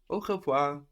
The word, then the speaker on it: au: A and le become AU, which is pronounced like oh, oh. And if you've heard goodbye in French, you've already heard this. Au revoir, which is literally to the reseeing.